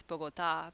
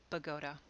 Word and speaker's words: Bogota: anybody else would look at and think it's bogota but they pronounce it pagoda in ohio there's a town called ashtabula which